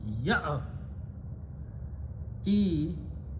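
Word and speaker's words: يأتي: So this alif is written, do not pronounce alif, otherwise it will sound like that, which is a different meaning.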